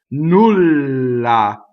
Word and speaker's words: nulla: Nulla. So double L, to make double L, you have to go L. Nulla.